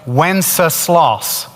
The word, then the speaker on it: Wenceslas: It's three sounds. Let's do it together. Wenceslas. Put it together. Wenceslas.